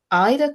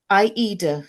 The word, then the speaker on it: Aida: Fabric, specifically 14 count Ida cloth or Aida cloth, both pronunciations are acceptable.